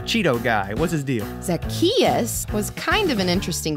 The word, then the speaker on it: Zacchaeus: that uh like this zacchaeus zack chachusa what no it's like zach just say it after me zacchaeus zackarecka dingdong all right